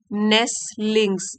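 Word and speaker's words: nestlings: to newly hatch नेलिंग नेस लिंगस इन the forest यहां पर T silent है तो एक बार की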